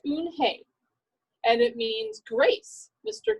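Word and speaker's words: Unhei: turned to joey she nodded slowly yes it's pronounced un hey and it means grace mr kim added joey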